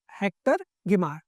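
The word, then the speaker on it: Hector Guimard: हेक्टर गिमार में डी आपका silent रहेगा, सो दिस इज हेक्टर गिमार।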